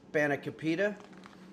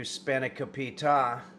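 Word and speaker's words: spanakopita: There's five syllables. So, you could say spanicopa or spanicapita or you can do spanicopita or spanapa or spanicapida.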